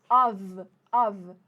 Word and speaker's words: of: Perceba que esse OF aqui, ó, com um F só, a gente pronuncia com som de V, of.